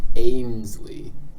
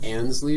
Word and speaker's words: Ainsley: Okay, but if you know it's pronounced Ainsley, As what else? opposed- Is it like Ansley or something?